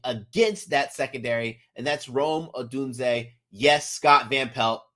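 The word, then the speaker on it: Rome Odunze: that I'm betting against that secondary and that's Rome adun yes Scott velt Rome adun is how you pronounce it I know you had a brain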